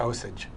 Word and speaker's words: Osage: opening of august osage county is that the pronunciation that is i'm glad i got that right august or county or both osage so you've been working on this play with